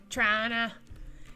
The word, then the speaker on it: Toronto: Trana. Yeah, exactly what Nico said. We're not French, or you're not Canadian until you pronounce Toronto like Trana.